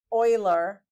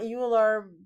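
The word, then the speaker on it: Euler: and it's read as Oiler like it's dutch right um o Oiler that's how it's read it's not uler much to my disappointment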